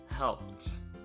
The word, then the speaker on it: helped: A reading me helped. Okay. Cleaned. The ed is pronounced as the. Cleaned. Needed. The ed is pronounced as id. Needed. And helped is pronounced as t.